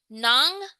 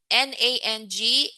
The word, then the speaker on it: nang: Sige, so nang, N-A-N-G, and nang, N-G sound the same. They sound the same, right?